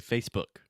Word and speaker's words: Facebook: First, the most important thing is what we call in linguistics the vogal de apoio. So you don't want to say Facebook.